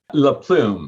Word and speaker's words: LaPlum: Do I have that pronunciation correctly, or is it LaPlum? You're the French version. That's what I want to know. LaPlum. You had it perfect.